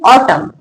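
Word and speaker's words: autumn: Word का last अक्षर एन और उसके पहले एम हो तो एन साइलेंट रहता है। एम तक पढ़ा जाता है। क्या पढ़ेंगे? ऑटम।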